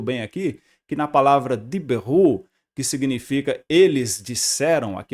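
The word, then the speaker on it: דִּבְּרוּ: Porque esse Shivá está debaixo, olha aqui, está sob uma consoante com dagesh, então necessariamente você vai ter que pronunciar esse shivá que está aqui. Então fica assim, ó, diberu, eles disseram.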